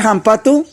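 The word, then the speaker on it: hampatu: Bueno, ahí en esa parte, recuerdan que les decía ayer que la H se pronuncia como una J.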